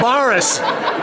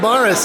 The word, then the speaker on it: Baras: Bradford she's going to give me the correct pronunciation go ahead we're at y yena yes now take that camera off you Baris yena Baris okay thanks Kathy thank you here's a friend